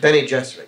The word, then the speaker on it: Bene Gesserit: Bene Gesserit, you pronounce it? Bene Gesserit, yeah.